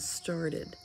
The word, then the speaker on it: started: we're using voted and started in both of those words the ed ending is going to make a separate syllable because after the verb